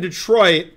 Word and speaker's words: Detroit: even though it's not also if you're from Detroit you say Detroit if you're not from Detroit you say Detroit nobody from Detroit says Detroit only people who aren't